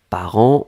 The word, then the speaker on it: parents: on l'écrit au pluriel ici part1 nts d'accord par an on prononce pas le thé on prononce pas lui